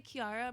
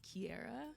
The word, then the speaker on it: Kiara: not Kiara because it's I say Kiara my parents say I say it wrong and it's pronounced Kiara but there's no e but there's no e exactly so by my book it's Kiara and in Japanese Kiara which is the same way that a Spanish speaker would say my name you know like making